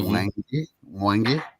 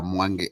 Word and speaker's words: Mwangi: Mwangi. Okay. Yeah, Mwangi. And the gi, it's like gi. It's like you're pronouncing gi. So it's Mwangi.